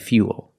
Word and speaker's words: fuel: pool and cool but remember with fuel we have the same spelling pattern but the pronunciation is a little different we put that Y sound in there f f fuel so all four words